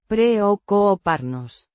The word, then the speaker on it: preocuparnos: Preocuparnos. The stress is on the Co. the C. before. U. Sounds like a soft k. The R. is a single, soft trill.